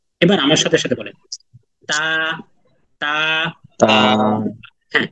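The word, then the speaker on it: ت: না বুঝতে পারছেন ক্লাসকে আরবিতে বলা হয় দারসুন তাহলে এটা কি দারসুল আহিয়া নাকি দারসুল আমওয়াত বলেন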